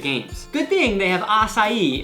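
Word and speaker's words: açaí: Good thing they have acai in Brazil. That's actually how you say it.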